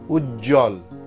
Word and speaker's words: উজ্জ্বল: আবার বলছি যুক্ত ব্যঞ্জনবর্ণে যদি বফলা যুক্ত হয় তাহলে সেই বয়ের উচ্চারণ থাকে না। যেমন সান্ত্বনা, সান্ত্বনা, সান্ত্বনা। দ্বন্দ্ব, দ্বন্দ্ব। উজ্জ্বল, উজ্জ্বল, উজ্জ্বল।